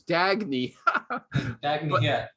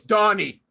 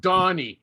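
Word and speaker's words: Dagne: it now i always thought her name was dagny it's donny okay actually there's no y it's just d-a-g-n-e d-a-g-n-e i thought it was scandinavian i have no idea okay okay okay yeah but now it's pronounced donnie okay and she understands and she said and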